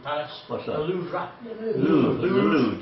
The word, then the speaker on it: Louvre: Louvre, just Louvre. Louvre, okay. A bit like a loo brush.